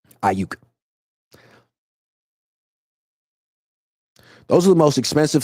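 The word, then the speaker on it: Aiyuk: I mean, the DB coach for the Chiefs couldn't even pronounce his name, called him Brandon Acko.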